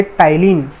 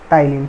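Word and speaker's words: ptyalin: कहेंगे इसको हम कहेंगे टाइलिन कॉल्ड टाइलिन ठीक है भाई य पर प जो है साइलेंट है तो इसको सि टाइलिन कहेंगे या फिर टाइलिन पसंद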